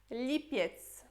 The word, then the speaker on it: lipiec: Depois temos lipiec.